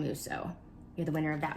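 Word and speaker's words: Mousseau: of that is anne musso i think that's how you say your last name i'm gonna butcher these of some of these but it's m-o-u-s-s-e-a-u so i believe ann musso you're the winner of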